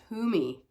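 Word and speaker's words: Kuthumi: but any whoie um so it's pronounced Kumi Kumi is an ascended master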